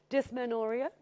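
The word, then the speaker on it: dysmenorrhea: the first one so we'll be going through dis manoria yeah that's how you pronounce it and the names are really tough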